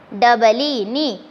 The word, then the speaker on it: knee: K-N-E-E, knee. See here, children, here in this spelling of our knee, K is silent.